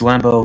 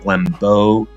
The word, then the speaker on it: Lambeau: Oh, and one small nitpick, it's Lambeau, not Lambeau. When I said the name like that, I wasn't even thinking about what I was doing. This technically doesn't count as a mistake. However, I was still saying it wrong because I was hitting the B sound in the middle too hard.